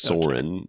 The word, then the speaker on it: Soren: And then one of our friends' kids was like soaring, like the word soaring, with dropping the G. Yes. And that's not how your son's name is spelled, but no, it's not. It's a homonym. But that's how it's sang. It's Soren without a G, and he would sing